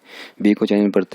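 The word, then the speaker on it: 不: तो यहाँ पे यानी 4 टून है, तो आप इसको प्रोनाउंस करेंगे पू, पू, ठीक है।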